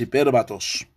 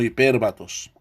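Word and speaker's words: hipérbatos: alteración del orden hay el plural de hipérbaton es hiper vatos aunque parezca raro pero no se dice hipérbaton es sino hiper vatos otros ejemplos del salón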